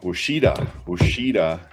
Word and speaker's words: Ouachita: And right here, Ouachita. I think I pronounced that right. Let me double check here. Yeah, Ouachita.